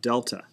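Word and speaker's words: Δ: And this can be rewritten with these triangle symbols pronounced delta.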